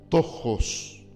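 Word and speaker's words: πτωχός: La palabra que usa para pobreza en este texto es una palabra griega que se pronuncia tojos.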